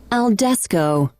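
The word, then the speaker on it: al desko: And the word of the day, Chev, is spelled ALDESKO, spelled ALDESKO. Aldesco.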